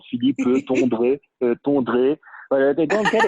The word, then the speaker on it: Tondre: Philippe, Tondre, thank you so much.